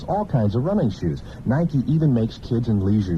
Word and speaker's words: Nike: are made by Nike that's Nike uh-uh look n-i-k-e spells night it's pronounced Nike well how do you pronounce l-i-k-e